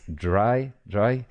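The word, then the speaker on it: drei: Most of them are regrouped in Dray, that we probably pronounce dry. It's the German for three. I think I would say just Dray because I got used to say Dray. Sorry if it's not the right pronunciation.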